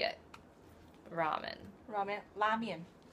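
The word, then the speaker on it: 拉面: Lamian. That's apparently the correct way to say it. But we have adapted to ramen, whereas even in the Midwest, some women that I've talked to call it ramen.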